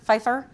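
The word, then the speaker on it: Pfajfar: Um, it's going to be hosted by two of our research economists, Damian Faer, Feifer and Rob Rich from our Center for Inflation Research. Um, I always mispronounced Damian's last name, but Feifer, like Michelle Fefeifer is apparently how it's pronounced.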